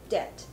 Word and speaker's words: debt: 发出来的，它叫做 debt。